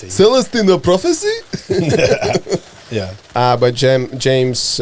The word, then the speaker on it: Celestine: did I say Celeste it's not LSD Celestine Prophecy right Celestine Prophecy it's not the it's just Celestine plus whatever you'll just pronounce it Celestine the prophecy yeah but